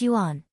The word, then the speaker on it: Yuan: Yuan pronounced Yuan.